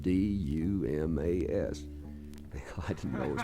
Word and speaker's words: Dumas: I read the sign as I came in town and said D-U-M-A-S. I didn't know it was pronounced Dumas.